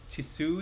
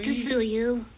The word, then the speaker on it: Tsuyu: And for this one line, the waiter is, I can't pronounce that name, from My Hero Academia. What is that name? Tisui? Tsuyu.